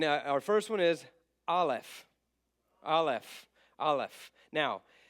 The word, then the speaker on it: Aleph: Aleph. Aleph. Now, right off the bat, very confusing. Aleph has absolutely no sound to it. It is a silent letter.